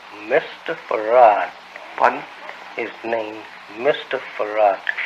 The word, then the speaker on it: Fard: Well, that would be the pronounce in English, but uh we in the Arabic it's far yes we're not